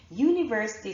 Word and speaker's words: university: that you are seeing but with university university starts with a consonant sound and a vowel letter so it actually sounds